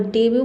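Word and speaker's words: debut: इसमें भी T letter silent रहता है और डिब्यू मतलब होता है पहला प्रदर्शन। इन सभी वर्ड को आपको लर्न करना पड़ेगा। सब में देखिए टी साइलेंट है।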